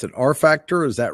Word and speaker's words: rfactr: a little bit is it how do you pronounce it r factor is that right that is right our factor